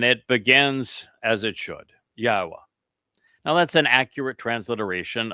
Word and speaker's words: Yahowah: I shared all three that by themselves affirm the pronunciation of Yahweh as such.